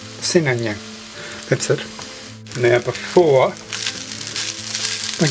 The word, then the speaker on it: Sinangag: And I'll try and get my mouth around pronouncing it again. Sinangag. Sinangag. Sinangag.